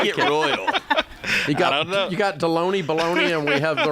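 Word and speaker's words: Delony: My last name rhymes with the lunch meat, dude. How you get royal? You got Deloney, Baloney, and we have the Royals.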